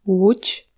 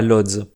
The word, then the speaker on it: Łódź: Voilà, maintenant que vous savez presque tout sur la prononciation polonaise, j'aimerais juste mentionner quelques noms propres. Cette ville s'appelle Łódź, et pas Lodz.